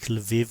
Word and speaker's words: Lviv: to the West Ukraine, places like Lviv or Lvov, it's pronounced differently according to whether you're Russian or Ukrainian.